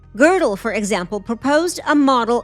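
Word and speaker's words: Gödel: Girdle spelled G O D E L pronounced Girdle. Girdle, for example, proposed a model of the universe that rotated, creating a structure where time could loop back endlessly.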